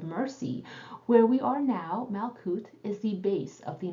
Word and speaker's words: Malkuth: Please forgive me for pronouncing it Malkuth from now on.